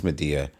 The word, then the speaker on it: Medea: um where is she I think it's pronounced uh media okay me it's media I was actually surprised to